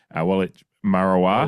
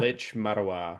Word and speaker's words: Waalitj Marawar: Oh, w I'm going to mispronounce that again. Witch Marow. Witch Marawa.